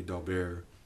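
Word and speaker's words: Daubert: dobert like challenges and for those of you who are French purists forgive my pronunciation of what would otherwise be doar but uh if you say doar in Texas people will look at you funny kind of like uh if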